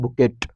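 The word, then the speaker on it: bouquet: ताकि आप लोग को याद रहे ये पढ़ते हैं बुके क्या पढ़ते हैं बुके लेकिन बुके ना करके हम इसको करते हैं बुकेट ट भी बोलते हैं इसको इतना मेहनत से इंग्लिश सीखे एक साइलेंट कैसे कर दे तो बुकेट फूलों का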